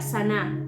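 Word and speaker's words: זנה: que significa que se se pronuncia saná con z que significa adulterar infiel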